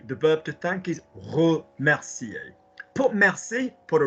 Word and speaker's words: remercier: Je voudrais te remercier. Remercier. Don't pronounce the R. We're not Spanish yet.